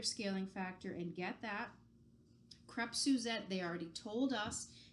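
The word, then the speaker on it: crêpe: crepes Suzette and yes the pronunciation is CREP this was another very embarrassing culinary school moment for me when I called them crepes Suzette and I got annihilated I got told there are no drapes like no crepes are not like drapes you do not pronounce them as such it's crap so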